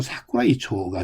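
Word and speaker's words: 桜井町: 이것이 일본식 발음으로는 사쿠라이초가 되겠고요.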